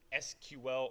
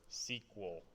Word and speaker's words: SQL: dude alright so what is a SQL or sequel we really want to pronounce it don't matter so SQL stands for